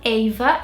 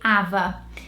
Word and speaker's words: Ava: Number 5, this one, Ava in British, and in Portuguese it would be Ava.